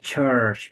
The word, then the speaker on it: church: when you pronounce English be careful about you see like plus it's like ch ch not the D when you say Church be for CH you see because this is sound the your accent sometimes say when you pronounce d t you know it that's makes your accent so clear that's why so like you say it like church yeah a church yes